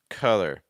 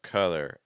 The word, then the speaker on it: color: a look at this so again we had the a sound and then the schw sound so ah then an uh it's like a uh k color so again a collar color a collar color a